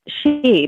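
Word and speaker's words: sidhe: with that is like they pronounce it the she but it's about side like s-i-d-e sounds like sid hee like s-i-d-h-e but anyway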